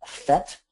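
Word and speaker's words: PhET: one made by um fet and fet is spelled p h t maybe eron can put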